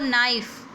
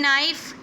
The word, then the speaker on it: knife: I purchase a knife. In knife, K is silent.